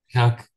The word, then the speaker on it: Jacques: Do I say Jacques or Yakus? Jacques. Yeah, okay.